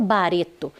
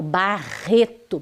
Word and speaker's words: Barreto: É o Barreto veja eu não falo bareto eu falo Barreto bem forte né o nome exige né Essa força então eu